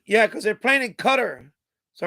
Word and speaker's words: Qatar: bunch of games foreign Qatar I pronounce it cutter Doha cutter yeah so I'm not